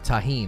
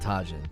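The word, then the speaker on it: Tajín: tahin is a spice oh tahin not tajin tajin sorry is that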